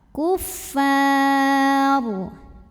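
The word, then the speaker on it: كفار: Kemudian ro-nya apabila berhenti disukunkan, dibacanya secara tafkhim, sebab ro yang disukunkan didahului baris fathah, maka bacanya tebal. Kuffar.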